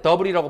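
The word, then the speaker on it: debris: 먼지와 자자질구리한 파편 쪼가리들 이거 발음할 때 더블이라고 발음해.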